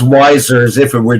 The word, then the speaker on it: Weisser: the name of wesser and did I pronounce that last name correctly no actually it's pronounced wiser as if it were